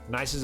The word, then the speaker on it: Nice: sort the whole thing it's pronounced nice by the way cool we could do